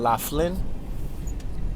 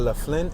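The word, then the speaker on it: Laflin: All right, I'm going to make this right-hand turn on La Flynne. It's spelled L-A Flynn.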